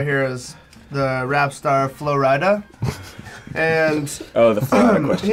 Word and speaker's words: Flo Rida: is the rap star flo rida and oh the phone he mentioned one time about his his moniker flo ryder pronounced flo ride uh uh represents florida